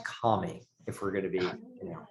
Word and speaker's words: Kami: Pronounced Kami, if we're going to be, It's Kami?